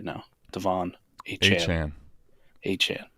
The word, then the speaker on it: Achane: Achane is officially the pronunciation, right? Listen, when you go for a 50 burger, I guess you can just call yourself whatever the fuck you want. Well, I'm actually trying to get it correct. Is it Achane? Is that official? Achane. Yeah, I guess that's the pronunciation.